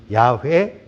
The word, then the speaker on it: 야훼: 야훼, 여호와. 그걸로 이제 두 가지 의견으로 이렇게 좀 부딪히고 있는데요. 보수적인 입장에서는 여호와라고 읽고 좀 진보적인 입장에서는 야훼라고 읽습니다.